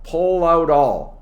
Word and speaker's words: pull out all: to make something happen notice my pronunciation all out all pull out all pull out all the stops so pull out all is linked let's give an example